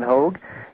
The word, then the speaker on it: Hogue: called uh hprc decom that's like hog is spelled like Rogue with an h h o g u